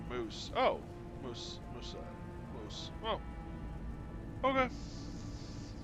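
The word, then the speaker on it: Maus: Mao is pronounced moose.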